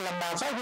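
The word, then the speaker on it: Labasa: नाम है लंबासा में उसको एल ए बी एस ए लिखते है लेकिन बोलते हैं लंबासा उसका मूल भाषा में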